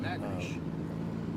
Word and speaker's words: Natchitoches: pronounce it Natchitoches.